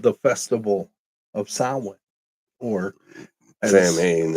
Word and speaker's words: Samhain: called the Festival of Samhain, or Samhain. Samhain is the way pronounce right. it. Yeah, it's not correct. Samhain is correct.